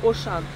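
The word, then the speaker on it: Auchan: Вот здесь распространенная сеть магазинов, это Ошан, как пишется Ошан, но звучит по-французски Ошан. Потом Леклерк и, ну и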